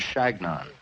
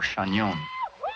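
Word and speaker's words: Chagnon: to know my name i told them that it was shagnon or shanyon but they couldn't pronounce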